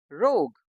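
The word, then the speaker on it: rogue: बी आई एल डी आई एन जी क्या बन गया building R ओ जी यू ई इसमें भी यू और ई साइलेंट है तो ये क्या बन गया रोग टी ओ एन जी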